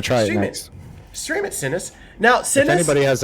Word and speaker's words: Cinnis: How do you pronounce it? Yeah. Sinnis.